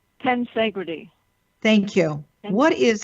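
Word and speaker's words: tensegrity: affects the cells and i hope i'm pronouncing it correctly it's the concept of tens i'm not i'm not advancing it right ten segre tea thank you and what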